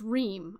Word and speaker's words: Reem: It's Reem. Okay, so I was saying it right. Like long E's.